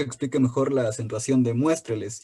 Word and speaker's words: muéstreles: Es la A, la antepenúltima sílaba es la tónica y presenta un diptongo, por ello la tilde recae en la vocal fuerte, son 3 sílabas.